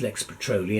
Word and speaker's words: Lex Petrolea: I talked about this we had a disagreement about the pronunciation of Lex patrol e to start with but once we got over that I said it's Lex Patrol II and that's all I'm